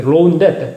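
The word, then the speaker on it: rho: 이게 로우인데 원래 읽을 때는 로우라고 읽는데, 그러니까 이 두 글자를 가지고 이 두 글자를 뭐예요?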